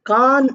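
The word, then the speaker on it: Cannes: are also other famous film Awards like the KH award we write c a n n s but we pronounce it as k a n so we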